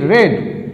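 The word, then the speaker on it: read: কিন্তু একই থাকে রিড রেড রেড উচ্চারণটা করতে হবে রেড তাহলে এ বুক ওয়াজ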